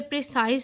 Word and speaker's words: précis: ठीक है कि ये इंग्लिश के लेटर प्रिसाइज से कनेक्ट होता है और उसके साथ ये कनेक्टेड है, लेकिन इसकी ठीक प्रोनाउंसिएशन है प्रेसी और लास्ट लेटर इसका एस जो है वो साइलेंट रहेगा।